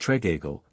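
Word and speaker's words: Tregeagle: must say something about trajal pronounced Tagle the Cornish Blue Beard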